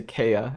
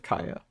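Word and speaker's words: Kaeya: but I also say I used to say Kea instead of Kaya is it ether though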